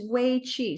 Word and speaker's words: Wei Chi: So it sounds like way to go, but it's Wei Chi.